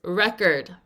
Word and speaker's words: record: And yes, there is another word with the same spelling that is not pronounced record, but is pronounced how? Record, like record your voice. But here, that is not the word we are doing. We are doing the word record.